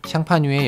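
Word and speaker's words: Champagne: 부를 수 없다는 사실입니다 참고로 샴페인이라는 단어 역시 샹파뉴의 영어식 발음이라고 합니다 하지만 이름은 달라도 만드는 원리는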